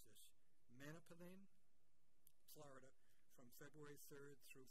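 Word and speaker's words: Manalapan: Going to mispronounce this, Manapalin, Florida, from February 3rd through February 7th, 2019.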